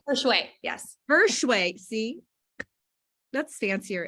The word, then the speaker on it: Hershewe: Hershewe, yes.